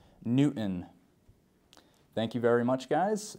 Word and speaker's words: Newton: name we have Newton this one can be tricky uh you can imagine trying to say it n t i n Newton thank you very much